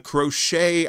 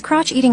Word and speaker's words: crochet: It's this is from crochet the crochet ideas. Okay. So crochet c o uh c h e t, right? That's how you it's you pronounce it crochet.